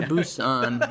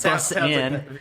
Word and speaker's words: Busan: Train to Busan. Yeah. That's not like bus in.